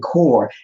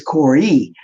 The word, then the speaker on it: Kore: I was saying Core. It's Corey.